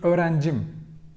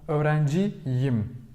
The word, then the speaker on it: öğrenciyim: Otherwise, if the suffix was me only, it would be öğrencim. Yes, but suffix itself im. So öğrenciyim. Tamam mı? So we need this to be able to pronounce this way correctly. Öğrenciyim.